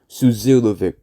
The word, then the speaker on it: Suzilovic: So how it's truly pronounced is Zon Philippe, Jean Philippe, and his last name. At first, and his last name is Suzilovic. Suzanne Philippe Suzilovic. Based on the pronunciation guide.